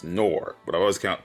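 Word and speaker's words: Nohr: of dwar or nor i always call it noir but it's pronounced nor but i always count pronounce it noir i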